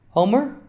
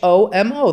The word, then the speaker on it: Homer: Homer? Yeah, Homo. See? I'm saying it wrong, definitely. There's a whole poem. Homo.